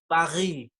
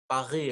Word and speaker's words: Paris: And I always try to get that r in French. That r, Paris, Paris, or I don't know how do you say तो असा Paris.